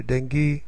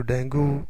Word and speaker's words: ڈینگی: انداز میں کرتے ہیں۔ کچھ لوگ اسے ڈینگی، کچھ لوگ ڈینگو، جو کہ غلط ہے۔ یہ ایک سواحلی زبان